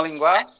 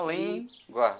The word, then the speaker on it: língua: GUA, língua. Se fosse Não. GUA, seria assim, ó, linguar. A gente chama linguar? Não, a gente chama língua, né?